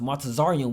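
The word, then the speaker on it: מצרים: The word Egypt in the Hebrew is pronounced Matazarium, which means double straits.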